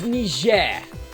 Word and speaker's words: Niger: guinea guinea bissau the one that you have to pronounce it like you're french or people think you're racist we'll see you for that next week sorry it's niger yeah um and and